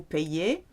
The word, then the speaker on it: paye: nous payons, vous vous payez, and il, elle se paie. If you do keep your Y, which you can do, there's a slight pronunciation difference. Je me paye.